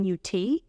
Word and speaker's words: Nut: I'm going to go I have n in new uh it sounds it looks like it says nut but it's pronounced n uh it's an Egyptian goddess of